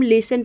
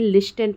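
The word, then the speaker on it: listen: सकते हैं ठीक है हम लिसन प्रोनाउंस करते हैं लिस्ट एंड प्रोनाउंस नहीं करते हैं यह तो आप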